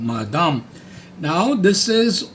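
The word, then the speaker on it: madame: Then you have मादाम, like बादाम, और ब का म कर दो, मादाम.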